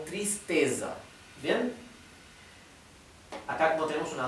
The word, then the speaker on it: tristeza: se es con z Entonces se pronuncia Z como la z del inglés no digan s porque el sonido s